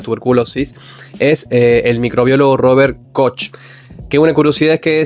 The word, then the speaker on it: Koch: es el microbiólogo Robert Koch. Que una curiosidad es que su apellido en realidad se pronuncia Koch porque es alemán y la CH en Alemania se pronuncia J.